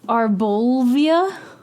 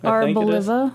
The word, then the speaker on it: Arboliva: Arbolivia? Arbolivia. Oh, is that how you say it? Arboliva.